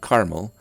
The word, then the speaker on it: caramel: The red dots show where people pronounce the word caramel with 2 syllables, like I do, caramel, while the blue designates speakers who say caramel with 3 syllables.